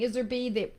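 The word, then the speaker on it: Iserbyt: It's Isbyrt, I think, Bryt or something. Iserby. The T is silent at the end.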